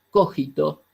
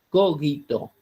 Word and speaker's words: cogito: la pronunciamos nosotros como cogido si no se pronuncia como si fuera cogito porque es latín qué quiere decir algo